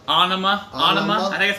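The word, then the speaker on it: Ænima: adam jones adam jones i watched the video he said i pronounce it it's almost like ah onoma it doesn't matter some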